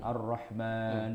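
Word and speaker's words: الرحمن: Itu mimnya panjang apa enggak sih? Arrahman. Panjang enggak? Kalau dalam eee Pengucapannya? Pengucapannya mimnya ada alifnya tuh harusnya. Iya, panjang kan? Arrahman gitu.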